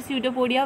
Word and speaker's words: pseudopodia: Students, we break the word pseudopodia where P is silent.